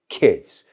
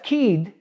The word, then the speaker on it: kid: He has 3 kids. Más corto. Y no digas kid, it's kid.